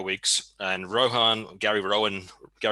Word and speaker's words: Rohan: He got 0 weeks, and Gary Rowan. I keep saying it wrong. It's like the Lord of the Rings, the Riders of Rohan.